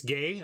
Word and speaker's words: Guay: It's gay. I thought, okay, I'm all in for pronouncing people's names correctly. So if it's Rebecca Gay, I will stop pronouncing the U.